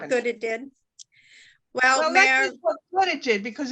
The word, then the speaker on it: Mair: So Mair, am I pronouncing that right? M-A-I-R, go ahead. It's Mayor. Mayor.